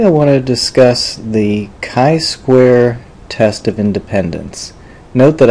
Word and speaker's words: chi-square: want to discuss the kai Square test of Independence note that I it looks like chai square but it's pronounced Kai Square it's from a Greek